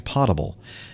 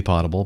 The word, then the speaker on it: potable: are mispronouncing it, saying potable. Remember, if there were two T's in P-O-T-A-B-L-E, if it was P-O-T-T-A-B-L-E, It would be potable, but it's not. It's potable, like potato.